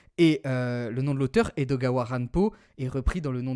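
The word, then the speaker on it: 江戸川乱歩: donc Edgar Allan Poe, et je vais le prononcer à la japonaise. Donc Edgar Allan Poe Edogawa Ranpo.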